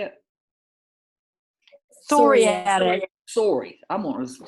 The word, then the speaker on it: psoriatic: Psoriatic. Sorry, I'm going to say psych, like psych. It's psoriatic. Psoriatic arthritis affects the skin